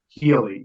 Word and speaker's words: Healey: Healy, Healy.